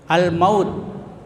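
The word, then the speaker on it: الموت: Kemudian al-maut, ya, al-maut itu ada alif lam bertemu dengan huruf qamariyah, ya, huruf qamariyah. Kalau tadi huruf samsiyah, ya, cara membacanya harus dijelaskan itu alif dan lamnya.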